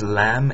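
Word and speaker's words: لام: you anyway most of the time this is lamb it's the L it looks like a fish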